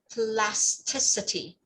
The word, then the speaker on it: plasticity: So this word, bring it longer, plasticity. plasticity, Plasticity. plasticity, Yeah, from plastic. So the k stops at C, but this one is CITY, so like city, right?